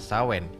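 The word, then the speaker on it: Samhain: paling memberikan pengaruh adalah perayaan Shanghai tulisannya Bacanya adalah sawen ini perayaan milik kaum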